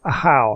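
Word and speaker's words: Ajaw: to regret it okay a how I've got to remember that's how you pronounce his name not not aor a how if you're done arguing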